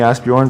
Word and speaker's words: Asbjorn: guys bear yeah is asbjorn hard for people because pretty much everybody calls you right i mean i started out saying to people that call me ask bjorn but some people couldn't